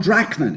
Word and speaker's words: Drachman: all carried away first of all uh drachman is that how your name's pronounced yeah and do just tell me you'll